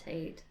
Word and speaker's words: Tarte: Like, it's spelled Tarte, but then they also pronounce it like Tate or something. I've heard it call as. Tate.